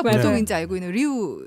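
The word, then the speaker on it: Rio: 근데 지금 말씀하실 때 히우라고 하셨어요. 아, 네네. 히우. 우리가 맞아요. 보통 이제 알고 있는 리우 네.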